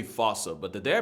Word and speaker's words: fossa: Bane to lemurs everywhere the fusa although it is spelling I'm pretty sure it's actually fossa but the day I